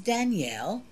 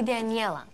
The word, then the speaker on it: Daniela: Ollie, this is Danielle. She is Dade's new German girlfriend. We've met. Her name is actually Daniela. You're mispronouncing it, Mother.